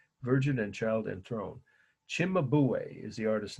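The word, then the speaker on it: Cimabue: virgin and child enthrone Chimay is the artist name that's how you pronounce it in at least I heard it pronounced that way in Italy c i m a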